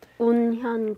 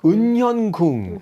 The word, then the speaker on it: 운현궁: 운현궁. Unhyungung.